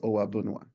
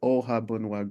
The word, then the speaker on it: Ohuabunwa: you can say ohaba the real pronunciation of my name is oaba right most people struggle with that so it was always ohaba growing up and we've just used that pronunciation but I wanted to